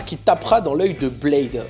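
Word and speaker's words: B1ad3: tapera dans l'œil de Blade alors je prononce Blade mais ça s'écrit B1 a D3 c'est les pseudos de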